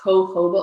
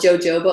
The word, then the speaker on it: jojoba: that's really great is hoba oil some people call it jojoba oil I think English people call it jojoba but we're near Mexico so we call it hoba but it's spelled with a J um and that's actually